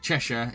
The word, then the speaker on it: Cheshire: beer drinking some Leo anything that ends in Shire is pronounced Cher yeah I should already know that since I live in Yorkshire uh Cheshire is it it's only American to say it phonetically um oh well I've